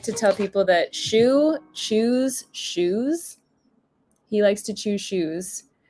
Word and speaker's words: Chou: My cat's name is Chou, but it's spelled C-H-O-U, like petit chou, like little cabbage, or chou à la crème, but that's C-H-O-U-X. Not shoe as in the thing you put on your foot.